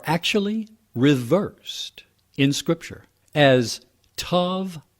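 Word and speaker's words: תא: reversed in scripture as tav aleph pronounced ta and used only once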